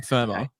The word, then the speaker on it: Fermor: I'm an ER. I know it's OR, but I'm Fermor. Okay. Like FIRM.